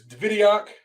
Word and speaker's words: Davidyock: It's Davidyock, Mm-hmm. correct? Got Yep. it. Awesome. So it's Davidyock, and so I'm glad I've been saying it right to everybody, but I've been talking.